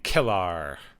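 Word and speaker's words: K'Ehleyr: In this, she is playing Kellar. Kellar. But you know, yeah. Given Klingon spelling, it's a little weird to look at it. It's like, oh yeah, that is how you say it.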